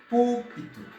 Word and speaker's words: púlpito: Parce que la prononciation est très très importante. Ok, vamos lá. Alors, yo dis chez l'église en portugais, púlpito.